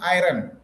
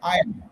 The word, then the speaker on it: iron: You should not say iron. You should say iron.